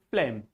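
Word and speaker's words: phlegm: This word is flem. This word is flem. Here flem. Flem. G is silent.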